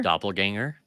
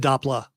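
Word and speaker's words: doppelgänger: like uh doppler is a dop doppler ganger doppelganger that's what i said i said that earlier he said i said it wrong well you would you would just you said dapla yeah you did you doppler no no no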